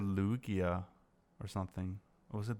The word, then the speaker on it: Lugia: raichu and uh lu how do you pronounce it lugia yeah some people say lugia it's it's weird it's lugia i never had i never heard anyone say lookie i've seen youtube viewers